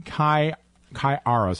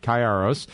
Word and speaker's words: Kayiaros: Stephen Chi Chi arroz I've got to get your name pronounced right Karos he's an orthopedic surgeon